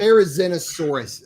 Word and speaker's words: Therizinosaurus: 6 Pachycephalosaurus, 1 Ankylosaurus, 1 Triceratops, 1 Stegosaurus, and then we've got 2 Therizinosaurus. Did I say that right, Craig? There's Dinosaurus. You're close. Therizinosaurus.